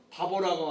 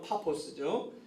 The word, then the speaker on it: 파포스: 그래서 그 살라미에서 육지 섬을 횡단해서 바보라고 하는, 원래 발음은 파포스죠. 그 도시에 와서 서기오 총독을 만나요.